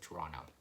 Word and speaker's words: Toronto: Instead of saying Toronto, you just say Toronto.